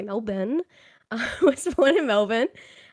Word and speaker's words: Melbourne: We say it like that, not Melbourne. We say Melbourne.